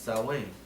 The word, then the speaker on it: Samhain: It says, the ritual we embrace as Halloween was originally called the Feast of the Dead, Samhain, pronounced Samhain, and was on November 1st.